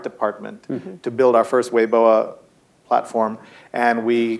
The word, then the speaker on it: Weibo: to be on weoa which you might know weibo which is the big um Chinese Network pronounced weoa uh which uh would